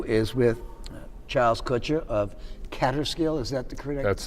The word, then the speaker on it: Kaaterskill: our next interview is with charles kutcher of catterskill is that the critic that's the correct pronunciation catastrophe books and i'm going to ask